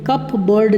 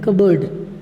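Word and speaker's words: cupboard: बोर्ड कप बढ़ने बोलेंगे कपबोर्ड नहीं बोलेंगे कबर्ड क्या बोलेंगे कबाड़ कबाड़ बीनने बोलना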